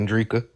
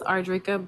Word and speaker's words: Andria: right uh go ahead Andria oh it's pronounced arria but thank you um